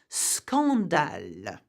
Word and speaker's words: scandale: When the SC, however, is followed by O, A, or U, the two letters are pronounced separately. So you would say scandale, scandal.